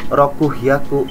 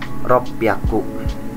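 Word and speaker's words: 六百: 500 gohaku 600 nah 600 juga angka kedua spesial dalam ratusan bukan rokuhyaku tapi ryaku ya ryaku 700 nana00 ini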